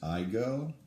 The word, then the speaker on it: Igoe: my name is my last name is is I go and it's spelled IG o e and you remember that I go you go we all go you won't forget my